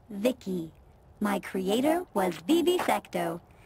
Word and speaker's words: V.I.C.I: transistors by the way i'm vici pronounced vicky my creator was vivi